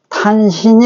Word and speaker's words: 탄신: 읽으면 안 되죠이 글자가 신으로도 발음이 나오고 진도 발음 날 때의 그런 것들이 이제 이렇게 읽을 때는 탄신이 읽어야지 자 이것은 내가 설명했죠 지금 얘를 꿈틀